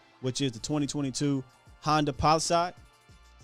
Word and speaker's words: Palisade: But before that, let's talk about this week's ride of the week, which is the 2022 Honda Palisade.